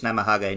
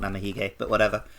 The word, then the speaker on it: Namahage: just that romanized um i think i've been saying it wrong i think it's namahage not namahike you can tell you've